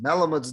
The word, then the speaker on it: Malamud: from this article in bernard uh malamuds or some pronounce it melamud's novel the natural an